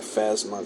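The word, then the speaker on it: Phasma: we got Han Solo Leia um we got fasma that's how you pronounce it in R2 and the c3p and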